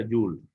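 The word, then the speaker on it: joule: igual que el trabajo jules se escribe soul es y se abrevia simbólicamente con la letra j se pronuncia llull y puede ser determinada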